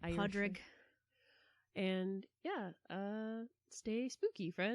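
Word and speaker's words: Pádraig: it St Patty's Day pronounce it the the real Irish Podrick and yeah uh stay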